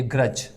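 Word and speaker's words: grudge: word है इधर ये ग्रज ठीक है ग्रज यानी डी जी ई इसमें डी जी कॉमिनेशन है तो आप देख लीजिएगा हमने डी को प्रोनाउंस नहीं किया इसके अलावा प्लज है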